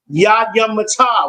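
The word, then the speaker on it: יָדַיִם: Even at the end of class, I've heard some brothers say it wrong. It's yady mata. We're saying hands down. yad yum mat because yum is plural for hands.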